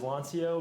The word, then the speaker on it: Lanciaux: follow me on Twitter how I pronounce it is LAN Co but I've been told by people who are native French speakers that I totally butcher that so so don't